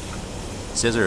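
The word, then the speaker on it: Scizor: wait uh scissor right I pronounced it czer but it's actually scissor right don't sleep on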